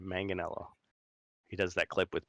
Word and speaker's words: Manganiello: Manganiello got his uh manganello I've been saying it wrong this whole time manganello he does that clip